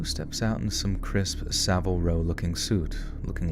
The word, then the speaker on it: Savile Row: Savile Row looking suit that's how you say it's Savile Row look crispy it's probably